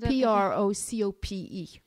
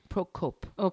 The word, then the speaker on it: Procope: a place where you went how do you spell that name p r o c o p e procope procope you went there to drink either coffee